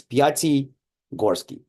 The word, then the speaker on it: Piatigorsky: You just got to split my name in two parts. It's Piatigorsky. Piatigorsky.